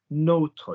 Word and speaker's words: nôtre: It's got an accent on the O. So our one, le notre, la notre, les notre. There's no yanning or yenning or any of this crap. It's just notre every time with an S written